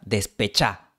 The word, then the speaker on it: Despechá: Por ejemplo, la cantante española Rosalía tiene una canción llamada Despechá. La palabra original es despechada, pero Rosalía pronuncia despechá.